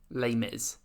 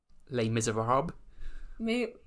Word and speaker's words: Les Misérables: How would you pronounce the name of this musical? Les Mis. But what's the full name? Les Misérables. Yeah, Les Misérables.